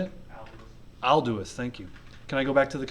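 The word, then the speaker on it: Aldous: Alduus, thank you.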